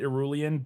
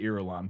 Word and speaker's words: Irulan: Yeah, so when I was reading it, I pronounced it Irulian, but there's no I. It's just Irulan.